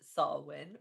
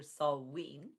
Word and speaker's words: Samhain: First of all, it's spelt Samhain, but pronounced saah-win or saah-ween.